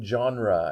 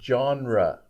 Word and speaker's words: genre: pronounced that word correctly genre it's spelled strange g e e n r e and so a lot of people have trouble pronouncing it but it's two syllables genre genre okay and that